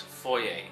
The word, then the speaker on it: Fvoyer: the movie favoy or voyer or foyer? Um the movie is pronounced foyer and the v is inserted to kind of be a play on two words voyer and foyer because it's people watching someone in a foyer.